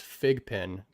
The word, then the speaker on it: Fidge pin: the right way is Fig pin, but I'm sticking strong and I'm saying Fidge pin because Fidge stands for fidgetal.